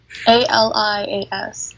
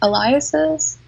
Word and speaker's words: alias: A-L-I-A-S. Aliases?